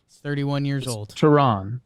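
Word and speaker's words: Teherán: him in a while Taryn Tehran Tehran okay Julio Charon Tehran yeah it's got a y in there I don't know there's a y in the pronunciation oh I think yeah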